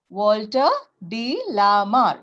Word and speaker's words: Walter de la Mare: Okay, how to pronounce it? Walter de la Mare.